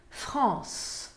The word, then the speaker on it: France: Então, France termina com E, e esse E não se pronuncia. France. Vocês podem ver que o som termina no S.